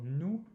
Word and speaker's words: nous: So you'll just round those lips and go ou, ou, ou. So nous, donnez-nous.